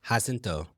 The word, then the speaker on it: Jacinto: The J is an H. Oh, Jacinto.